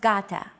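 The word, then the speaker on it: γάτα: word Gata meaning cat this is usually romanized with an initial G letter but it is not pronounced Gata the first consonant is softer Gata watching contemporary videos such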